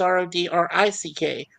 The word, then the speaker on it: Rodrick: It's weird because there's two ways you can spell it. It's Roderick, but in my case, the E is out of it, so it's Rodrick.